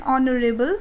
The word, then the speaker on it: honorable: John is an honorable man.